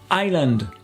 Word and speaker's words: island: que chief landscape landscape le s disparaît dans island iron treasure island l'île